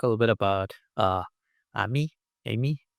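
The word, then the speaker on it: AMIE: little bit about uh Ammy Amy. How do you pronounce Ammy? Uh I think there's no consensus but let's go with Amy.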